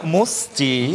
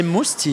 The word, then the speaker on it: Mustii: my God oh my musty hello oh you say musty you you can in fact you know it's linked to my family name it's must in French so but I know